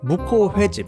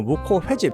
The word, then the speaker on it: 묵호회집: 성시경의 먹을 텐드 소개됐던 무코 횟집 일단 가장 중요한 건 무코 횟집이 아니고 무코 회집 제가 이거를 억지로 이렇게 횟집이라고 발음하는 이유가 있습니다 은근히 근처에 무고 횟집이라고